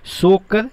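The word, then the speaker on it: Tso Kar: वो कौन सा है, सोकर लेक। ध्यान रखिएगा, सोकर लिखा हुआ है लेकिन यहाँ पे टी से स्टार्ट होता है, टी साइलेंट होता है।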